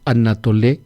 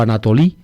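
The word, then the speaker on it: ἀνατολή: La palabra griega es anatolé exipsus. Anatolé o Anatolí pronuncian los griegos modernos.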